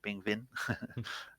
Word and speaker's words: Pingvin: Yeah, and one thing that I would mention here, on top of what we see, is that Pingvin, the V, Pingvin, as we have to pronounce it, has total score of 88,000.